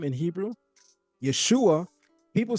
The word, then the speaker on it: Yeshua: And the shin is vocalized as shu, not sha.